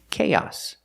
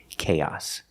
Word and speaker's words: chaos: a so together K when you link these two vowels the long a and the short a sound we link them with the YY sound like in yellow and yesterday so link The Sounds k k k chaos and the final s makes a true s sound s with no voice chaos chaos is a